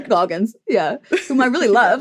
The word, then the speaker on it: Walton Goggins: Walton Goggles. Goggins, I think, but I like Goggles better. So funny. I like got the first one down finally and then just totally butchered the second name. Yeah, exactly. Walton Goggins.